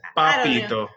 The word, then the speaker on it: papito: We got a lot of people that just pronounce the P like it's pepper. it's like Papito, but it's really like it's you just gotta just say pa. It's Papito.